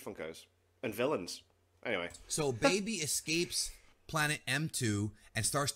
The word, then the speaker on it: Baby: of my old videos I actually refer to baby as beby because I went with the Japanese pronunciation but it's really the same thing CU baby and Bey are the same word so it's whatever you